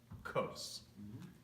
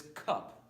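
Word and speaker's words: כוס: tacos okay tacos so how would you say up close just coast don't read this Cup because in English we have a tendency to just say cut because we don't see the AH this is literally red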